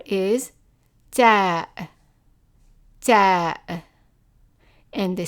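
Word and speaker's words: ثاء: The name of it is thaa, thaa, and the sound of it in formal Arabic is th, th, as in the number 3.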